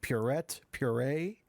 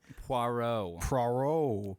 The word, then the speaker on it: Poirot: It is Poirot. Poirot. Poirot. Poirot. Like PWAROW. I'm gonna write like it, that. I'm gonna write it on my Murder on the Notes Express. Poirot.